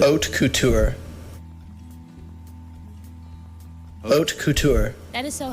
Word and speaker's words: haute couture: This is how they say you pronounce it. Haute couture.